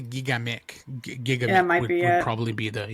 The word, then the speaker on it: Gigamic: GI J G Gigamic I think. Gigamic. Yeah. I always forget how it's supposed to be pronounced. It's under the hood. It's a French publisher from France, so it's probably Gigamic.